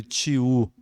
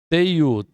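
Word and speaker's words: teiú: O pessoal chama às vezes de tiu. Teiu.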